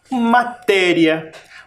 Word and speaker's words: matéria: Tem quantas sílabas? 1, 2 e 3. A última sílaba é riá. A penúltima é o té. E a antepenúltima, o ma. Matéria. Também tem sílaba tônica. Matéria. matéria. E ela está sinalizada por um acento.